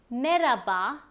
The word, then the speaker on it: merhaba: The most common one that we use is merhaba. Merhaba literally means hello, but in daily speech we do not pronounce the H sound. So it is sufficient to say merhaba without pronouncing the H.